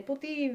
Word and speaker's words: poutine: You got to say it as a poutine, a slapped French accent. You know what I mean? When they go, qu'est-ce que c'est, mon ami? You go, c'est la poutine.